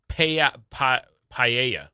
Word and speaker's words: paella: It is Care for Kids Day, and it is Paella.